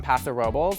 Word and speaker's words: Paso Robles: This is honestly a big, bold red from Paso Robles, which is how the locals say it.